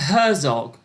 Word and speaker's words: Herzog: A Herzog, apparently.